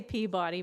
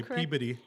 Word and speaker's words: Peabody: I say Peabody, but apparently that is not how they say it. They will correct you quick and say Peabody.